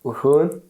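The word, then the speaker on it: Rouen: It's Wun. R O U Nun.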